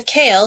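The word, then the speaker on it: CAEL: of course so the kale stand is pronounced like the vegetable uh it's for me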